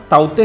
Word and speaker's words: Tauktae: आईएमडी के चक्रवाती चेतावनी विभाग के अनुसार इसका उच्चारण ताउते है।